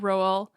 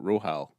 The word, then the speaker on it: Rohal: It's like Rohan, except Rohal.